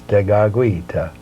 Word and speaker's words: Tekakwitha: Well, the word Tekakwitha, and that is the way our Mohawks pronounce it. It's a little difficult for us, Tekakwitha, but if we can approach it at least by saying Tekakwitha. The second K goes with the W.